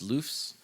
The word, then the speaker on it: LUFS: DBFS, DBRMS, DBVU, and LUFS, which is pronounced LUFS.